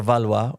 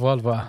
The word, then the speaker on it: Valois: I noticed in the introduction you missed out the valwa, which is fine because unless you're comfortable with saying it and pronouncing it as the French do, it's a bit of